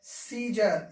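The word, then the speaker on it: Caesar: आप याद रखिए की हमें ए उच्चरित नहीं करना है इसे हमें पढ़ना है सीजर इसको मैं पढ़ना है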